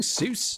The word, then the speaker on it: Seuss: sis are you saying seuss dr seuss oh but i heard his name was actually pronounced like soy uh the what no